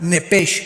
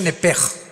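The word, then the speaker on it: נפש: Apúntala como suena nepesh con sh se pronuncia nepej.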